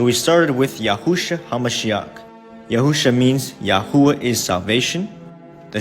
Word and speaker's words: Yahusha: It's pronounced Yahusha. In English, Yahusha.